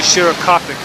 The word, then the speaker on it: Shorakapok: Shorakapok.